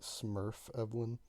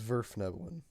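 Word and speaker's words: Svirfneblin: Is anyone else upset that Vern keeps pronouncing it Smurf Evelyn? Mm-hmm. Little Yes. bit. What's it called? Here is Zverfnevelin.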